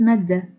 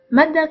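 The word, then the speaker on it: مدة: The last form of alif is madda. Madda is in the form of a glide over an alif. It is pronounced as a long a, just like the a of at.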